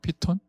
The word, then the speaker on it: 피톤: 피톤 아시나요? 피톤. 제가 피톤 하니까 못 알아들으시는 거죠. 본래 발음이 피톤이거든요.